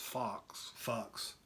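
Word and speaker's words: Focks: We got Fox spelled F-O-C-K-S, so it's Fox. It's pronounced Fox, right?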